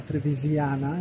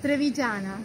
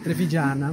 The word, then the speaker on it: Trevigiana: You are Trevisiana, is that how you say it? Trevigiana. Trevigiana. Sì.